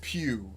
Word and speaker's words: Pugh: it here okay so florence pugh and i'm assuming you pronounce it pew because going back to one of my soldiers last name is the same as yours and he pronounced it pew so i'm assuming that